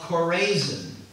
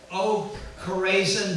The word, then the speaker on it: Chorazin: And he upgraded the city of Chorazin.